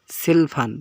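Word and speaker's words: 칠판: নাম্বারে যেটা আছে সেখানে সেলফান সেলফান উচ্চারণ হবে সেলফান মানে হচ্ছে ব্ল্যাকবোর্ড বা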